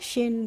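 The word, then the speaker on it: shin: okay इसी तरीके से हम सिन को पढ़ेंगे एस एच से फिर से श बन गया तो श हो गया और आई से बन गई छोटी ई की मात्रा और एन से बन गया ना तो एस एच आई एन क्या होता है शिन क्या होता है शिन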